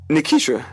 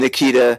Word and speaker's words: Nikitra: How you say my name? Nikitra. Okay. But it was Nikitra, not Ta. Like, because you know people named Nikita.